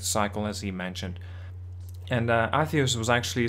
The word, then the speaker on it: Atreus: Why did he name his son Atreus? Like, atheist.